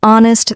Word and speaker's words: honest: For example, in words like no, the K is silent, honest, the H is silent, and castle, the T is silent.